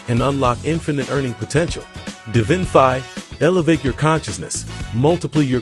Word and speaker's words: Divinfi: It's not Divinify, it's Divinfi. Okay.